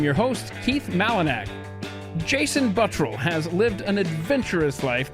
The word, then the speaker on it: Buttrill: Now, I could pronounce it Buttrill, but that's how Glenn Beck pronounces it, correct? Repeatedly. Let's get this straight. Oh my gosh. It's Buttrill, right? How is that hard?